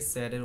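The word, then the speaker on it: said: আমি আপনাদেরকে স্যাডের উচ্চারণটা শোনাচ্ছি, মানে কোনো কিছু বলেছিল, সেইড না, এটা স্যাড।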